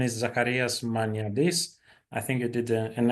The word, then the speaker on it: Zacharias Maniadis: Uh this is uh yeah the pronunciation is zakaras manardis.